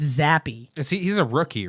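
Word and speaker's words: Zappe: I kept calling him Zap.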